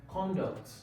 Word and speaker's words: conduct: Okay, now, the next word there, you have conduct.